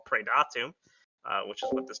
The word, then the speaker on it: Praedatum: Um, his current main project, I'm I never pronounce it correctly. Uh, per parad, can you help me here? Pradatu.